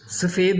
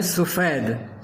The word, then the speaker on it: سفید: عام طور پہ کیا کہتے ہیں سفید، سفید نہیں ہے، یہ ہے سفید، وائٹ.